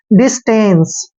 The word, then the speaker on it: distance: एन को आधा न पढ़ना है, सी का उच्चारण से करते हैं। टेंस, डिस्टेंस, डिस्टेंस होता है दूरी, डिस्टेंस दूरी।